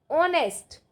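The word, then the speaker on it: honest: जैसे ईमानदार ऑनेस्ट ऑनेस्ट आपको बताया था ना ऑनेस्ट। इसमें एच साइलेंट रहता है इंग्लिश में जब मैंने आपको आर्टिकल्स कराए थे।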